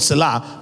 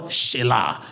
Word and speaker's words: Selah: Right, people call the word Selah, but there's no word Selah in Hebrew. Right, is the word Shelah.